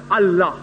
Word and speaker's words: Allah: But when you pronounce it, we have to tell them, pronounce it as Allah.